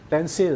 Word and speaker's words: tensile: Tensile. Tensile. Oh. Hindi, Tensile. Oh, Pencil. Rhymes with pencil.